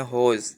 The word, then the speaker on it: whose: ठीक है, तो उसके बाद हमारे पास जो हुज़ है दैट इज़ WHOSE। इसे कुछ लोग गलत प्रोनाउंस करते हैं होज़, लेकिन इसको आपने हमेशा हुज़ प्रोनाउंस करना है।